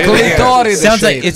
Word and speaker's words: clitoride: Clitoride. Is that true? Sound bad. Sounds like a That's why I was saying it in Italian. What shape is that I pasta? hate Say it again. Clitoride.